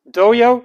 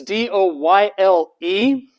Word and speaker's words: Doyle: a while my name my name is doyle doyo the spelling is d-o-y-l-e some people will try to pronounce my name or doyle honestly i go by doyo so if you call me doyo that's what i'm most familiar with now i know what's